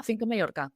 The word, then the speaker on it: Finca Mallorca: I said Finca Mallorca. Is that right? Finca Mallorca? Yeah, Finca Mallorca.